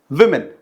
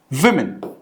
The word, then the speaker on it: women: The pronunciation is women. The pronunciation is like this. So this is women.